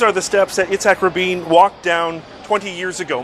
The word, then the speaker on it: Rabin: Rabin, that's how his name is pronounced.